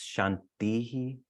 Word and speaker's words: Shanti: uh but Shanti is when you pronounce it by itself it's Shanti there's this aspiration on the end but when you chant them consecutively you shorten the the eye so it's Shanti Shanti Shanti so that's just a